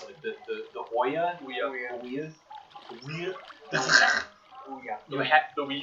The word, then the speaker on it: Ouya: still exist, like the how do you even pronounce it? The Ouya? Ouya.